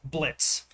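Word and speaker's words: Blitzø: Now, this character is the main protagonist of Hell the Boss, Blitz. Uh, he actually has the letter O on his name, but the O is silent.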